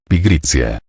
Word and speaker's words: pigritia: Al desesdrujulizarse, la palabra pigritia convirtió sus dos últimas sílabas, tia, en una sola, cuya pronunciación pasó de tia a tsia, pigritia.